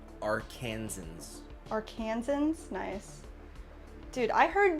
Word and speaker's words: Arkansans: For the record, it's pronounced Arkansans.